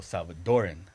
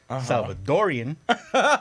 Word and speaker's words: Salvadoran: So Salvadoran. The most popular term is Salvadorian, R-I-A-N, or R-E-A-N. Okay. So most people will say it Salvadorian, yeah. but it's spelled Salvadoran.